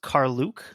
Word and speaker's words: Karluk: But from what I understand, the indigenous pronunciation puts the emphasis on the second syllable and it's look instead of look.